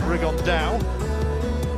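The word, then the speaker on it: Rigondeaux: about fighting rigondo or as he's correctly pronounced with the uh spanish accent rig on dow and two have some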